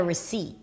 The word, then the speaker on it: receipt: And then the receipt is just a R sound. It's an R and a schwa. R. And then seat. Can I get a receipt?